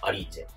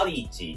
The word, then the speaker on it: アリーチェ: なってるのがアリーチェちゃんとした発音はアリチですけどビビンバーなのかビビンバーなのかビビンパーなのかくらいの違いでアリーチェじゃあもう